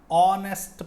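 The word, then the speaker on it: honest: ನೋಡಿ ಇಲ್ಲಿ ಎಚ್ ಆನೆಸ್ಟಲ್ಲಿ H silent ಆಗುತ್ತೆ, ಹಾಗಾಗಿ ವವೆಲ್ ಸೌಂಡಿಂದ ಓ ಇಂದ ನಿಮ್ಮ ಉಚ್ಚಾರ ಸ್ಟಾರ್ಟ್ ಆಗುತ್ತೆ. ಆ್ಯನ್ ಆನೆಸ್ಟ್ ಪರ್ಸನ್ ಅಂತ ಹೇಳಬೇಕು. ಹಾಗೆ ಆ್ಯನ್ ಆರ್, ಹವರ್ ಅಂತ ಹೇಳಲ್ಲ.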